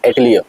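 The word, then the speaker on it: atelier: French word है okay अटलियर अटलियर एलियर कोई आर्टलियर बोलता है अटलियर बोलते है अटलियर बोलते हैं मतलब आपका क्या प्रोनाउंस है वो डिपेंड्स इसका बेसिक मतलब होता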